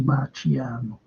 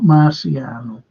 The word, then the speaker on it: Marciano: boxers and that was Rocky Marano not Marciano Rocky Maran that's how you pronounce it properly Rocky Marian brilliant but